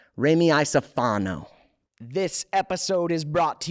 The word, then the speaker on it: Iacofano: Raimee Iacofano.